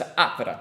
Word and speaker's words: Atvara: So the thing is, I've mastered the stress the first syllable in Latvian. Yes. So I know it's Atvara.